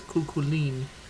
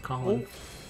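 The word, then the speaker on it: Chulainn: his last name because I think he says kuline because Japanese don't know that it's supposed to be pronounced Colin ruler let's go let's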